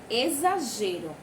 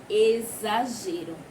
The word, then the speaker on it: exagero: Exagero. Vê só. Exagero. Também lembra muito o som do Z, não é verdade?